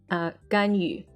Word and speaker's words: Ganyu: Ganyu. Ganyu. And then Lisa. Yes. No problem pronouncing that one.